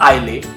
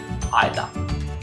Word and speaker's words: Islay: बहरहाल काउल इला हो या cool Ayla, it still is my most favorite Islay malt, not Islay, Islay.